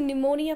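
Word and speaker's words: pneumonia: किसी का ये निमोनिया, ये पी साइलेंट है, इसको निमोनिया की स्पेलिंग सीख लेना आप लोग, NEUMONIA, इट्स नॉट, पी is silent, तो हम इसको निमोनिया पढ़ते हैं।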